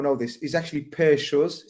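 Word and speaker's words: Schuurs: It's Schurz, not Skurs. Yeah. Oh, Skurs, Skurs is you're thinking about chicken skewers and lamb skewers. Yeah. This brother's Schurz, Per Schurz. Yeah, that's how you say it.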